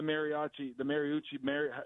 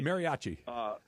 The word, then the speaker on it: mariachi: Is we flew the Mariucci, I'm going to pronounce it wrong. Y'all get it right for me. Mariachi.